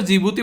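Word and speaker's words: Djibouti: इसका पढ़ने से सर जब की दी इसका साइलेंट होता है इसको jibhuti बोलते हैं ठीक है तो अगर कभी भी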